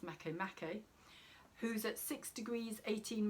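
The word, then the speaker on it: Makemake: is also semi-sex style to the dwarf planet make make or make it sorry make me it's a written make make but it's pronounced mako makkay who's at six degrees 18 minutes in libra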